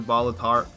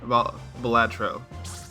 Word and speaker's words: Balatro: You think you're a bit addicted to Balatar, but Balatro? Balatro. I think it's probably pronounced.